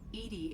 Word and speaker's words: EDI: are you named edie edie is the phonetic pronunciation of edi that is an acronym for enhanced defense intelligence edie is pretty great